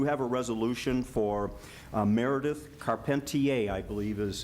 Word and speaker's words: Carpentier: We do have a resolution for Meredith Carpentier, I believe is how you pronounce the name? Carpentier. Carpenter. Oh, the I is silent.